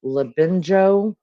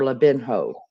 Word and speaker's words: Labinjo: I've heard Labinjo or Labinho. Okay, it should be a sin off for real, at least after 2 years. Arthur Labinho or Labinjo-Hughes.